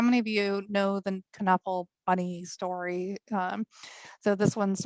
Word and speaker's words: Knuffle: Knuffle Buddy, which by the way you should be pronouncing the K in that, from Mo Willems, is one of my absolute favorite children's authors.